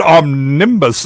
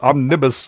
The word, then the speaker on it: omnibus: Well, the first time you said omnibus, and I was like, "Oh, clouds? What?" Oh, and then it was omnibus next time. You're putting the emphasis on the wrong syllable.